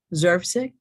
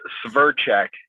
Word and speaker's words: Sverchek: I hope I pronounced your name correctly, Zervsik. Good luck with pronouncing that one. It's Sverchek, Sverchek.